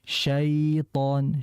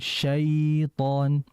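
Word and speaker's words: شيطان: Jangan a'udzu billahi minasyaiton syai, jangan, tapi syaiton, syaiton. Jadi biar lunak saja ya, biar lebih rileks ketika baca iya-nya.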